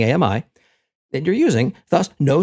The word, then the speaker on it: AMI: Remember, 2 syllables wrong, 3 syllables good when pronouncing AMI.